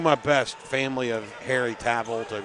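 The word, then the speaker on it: Tawil: It's spelled T-A-W-I-L. Well, I've just been told it's Harry Tavel.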